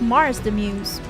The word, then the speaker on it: Mars the Muse: Marks on YouTube says, "Nice to meet you guys, I'm doing well, but for a future reference, it's pronounced Mars the Muse."